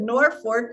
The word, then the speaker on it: Norfolk: I have been through Norfork yes yes and I've always wondered why did they pronounce it Norfork when it's Norfolk it was one of